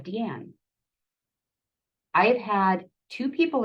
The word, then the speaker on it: D'Ann: I don't know if you guys saw on the first slide, but my name is spelled D'', capital A-N-N. It's the French spelling of Deanne.